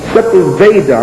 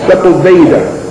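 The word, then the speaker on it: Sepúlveda: On the Just Causes of War, written by a man named Sepulveda, I'm saying it wrong, Sepulveda.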